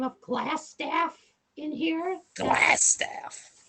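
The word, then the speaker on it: Glasstaff: if you don't mind so g l a s s like glass sounds like an ass and then Taff t-a-f-f its terrible I I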